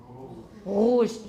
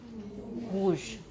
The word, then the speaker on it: rouge: And the next one is a voiced uvular trill. Rouge. Here it's not usually a trill. It's not usually a trill, but it could be. And when Edith Piaf sings, then it is.